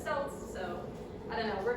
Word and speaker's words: Celts: They were called Keltoi by the Greeks, which is why I'm pronouncing it Celts.